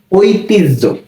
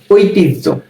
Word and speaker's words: ঐতিহ্য: হ এর সাথে যখন জফলা যুক্ত থাকবে তখন এই হ জফলা এর উচ্চারণটা হবে জহ জহ এরুপ হবে।